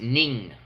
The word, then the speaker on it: Ng: family like literally cry it's pronounced ning I have a friend with the same last name um I Heard media say in so you know I don't know how we're going to pronounce it here um I didn't actually